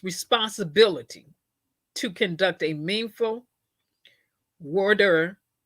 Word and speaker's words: voir dire: It was defense counsel's responsibility to conduct a meaningful voir dire, and that's the way it's pronounced. It's a a French word.